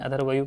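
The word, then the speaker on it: अध्वर्यु: इसमें इसका जो पाठ करता है, उच्चारण करता है, उसको अधर्वय कहते हैं।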